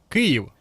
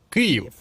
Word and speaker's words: Київ: Я ж правильно вимовив Київ. Бо вічно мене критикують за те, що вимовляю по-російськи. Київ.